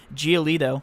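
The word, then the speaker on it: Giolito: give you one of my favorite gbp options geolito and yes i pronounced that right because i looked it up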